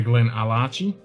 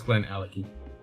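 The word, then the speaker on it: Glenallachie: What, Glen Alecky? You say Glen Alachi? It's Glen Alecky.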